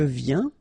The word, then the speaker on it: viens: Je viens. Final S not pronounced, okay? And when you combine this IEN, you get this yin, yin.